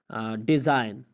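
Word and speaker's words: design: अगर किसी लफ्ज़ में एन से पहले जी आता है तो जी हमेशा साइलेंट होता है। एन से पहले जी आए तो जी हमेशा खामोश होता है, जिससे आप कहते हैं नेट, पिस्सो।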